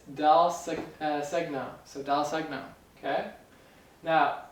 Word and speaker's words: Dal Segno: It's Dal Segno.